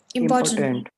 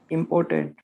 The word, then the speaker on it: important: pronounce today pronounce it important import yes yes mr gentleman important important important important the word has how many syllables important there are three parts to this word important important which part